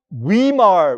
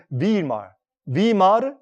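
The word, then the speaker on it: Weimar: 이틀입니다 독일의 옛날이 저 위마 repic 그게 영어 발음이고 독일말 순수한 발음은 말 마 리퍼블릭 그래서이 말 공화국이이 히틀러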